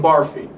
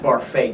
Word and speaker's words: Barfée: puam County Spelling be Mr William barfy it's pronounced barfa Doug Doug um yes